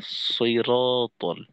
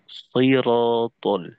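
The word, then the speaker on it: ٱلصِّرَٰطَ: এদের জবর উচ্চারণ কখনোই আকারের মতো হয় না, অ এর মতো হয়।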